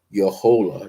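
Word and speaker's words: Jojola: j o l a I gotta learn pronounce my J's and y's in Spanish are different but anyway Susan pepper your whole that's how it's pronounced j o j o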